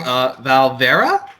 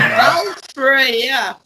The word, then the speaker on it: Valfreya: And this time we have Montreal's own, please forgive me if I say this band's name wrong, Valfreya? Come on. Oh, no. Valfreya. Oh, Valfreya.